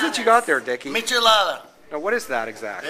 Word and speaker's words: michelada: How do you pronounce that? Michelada.